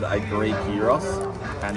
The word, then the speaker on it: gyros: It's spelt gyros, but it's gyros.